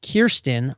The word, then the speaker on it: Kirsten: been successfully calling you Kirsten rhymes with pierced in all episode you have